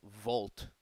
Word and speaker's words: Wolt: The equivalent Pope here would be called, I think in Germany it's called Volt, which is spelled WOLT, which is basically just like Deliveroo, Uber Eats.